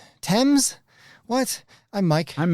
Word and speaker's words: Thames: a river, which is spelled t h a m e s, but that's not pronounced Thames or even Tames, but Tems?